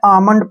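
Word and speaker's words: almond: इसमें एल आया है जब भी एम से पहले एल आता है तो वहां पर हम एल का जो है प्रोनाउंस नहीं करते हैं एल का उच्चार नहीं करते हैं तो इसको हमने जो है आमंड पढ़ना है क्या पढ़ना है आमंड जैसे नेक्स्ट वर्ड है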